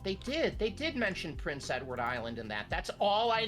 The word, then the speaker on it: Prince Edward Island: Prince Edward Island. Prince Edward's Island. Prince Edward Island. Mhm. Edwards. Yeah. I don't pronounce the part.